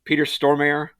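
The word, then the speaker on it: Peter Stormare: Um, another guy I can never pronounce his name. Peter Stormir.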